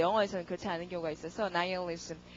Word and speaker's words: nihilism: 그다음에 허무주의가 나오는데 이거 발음 우리 nihilism 하잖아요. 근데 발음이 영어로는 그렇지 않고요. nihilism 이랍니다.